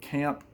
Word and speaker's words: Caamp: to look it up this is um Camp their um name is spelled with two A's c a a m p and this is their